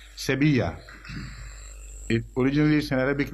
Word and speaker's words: Sevilla: Hale London it reads throughout Seville it is pronounced in Spanish Sevilla a polygamous Arabic name